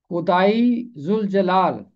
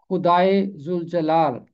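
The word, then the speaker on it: خدائے ذوالجلال: खुदाई जुल जलाल, इसका मतलब है जलाल वाला खुदा। आपने देखा कि खुदा के आगे छोटी याय है। इसका तलफ्फुज होगा खुदाई जुल जलाल।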